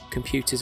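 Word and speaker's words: Compute!: It's from a magazine called Compute. And I say it like that cuz it's got an exclamation mark at the end of it.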